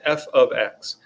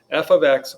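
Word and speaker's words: f(x): algebra 2 about this please be not confused it's not multiplication this is not f times x all this means is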